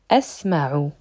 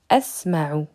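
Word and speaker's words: أَسْمَعُ: Sami'a, qui est un verbe à 3 consonnes, devient asma'u. J'entends. Asma'u. Ici, il faut apprendre par cœur que la deuxième consonne, lorsque le verbe est conjugué au mudari', est une fatha.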